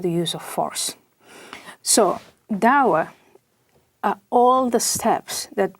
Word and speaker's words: Dawa: Dawa is the way it's pronounced.